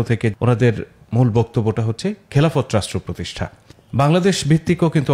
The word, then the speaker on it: খেলাফত: খেলাফত রাষ্ট্র বা খেলাফা, আসলে শব্দটা আমরা যেহেতু একার দিয়ে উচ্চারণ করি, তাহলে খেলাফত বলি আমরা, যেমন ইবাদত, এলহাম, আর ইদানিং বলি খিলাফা।